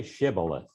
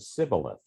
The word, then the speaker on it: Shibboleth: And if he said no, then they would say to him, "Say Shibboleth." But he said Sibboleth, for he could not pronounce it correctly.